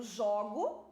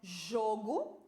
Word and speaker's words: jogo: Agora eu tenho jogo do verbo jogar, né? Então, jogo, som fechado. Jogo, som aberto. Então, estas são homônimas homógrafas. Elas são iguais apenas na grafia, mas a pronúncia é diferente.